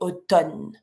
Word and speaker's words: automne: And when you speak, it's completely different because when you write it, you see there's the MN, automne. But when you say it, we just don't pronounce the M. So we say automne.